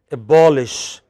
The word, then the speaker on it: abolish: as i said here abolish admonish demolish you know there are lots of verbs which have main stress on the pre-final syllable on the penultimate syllable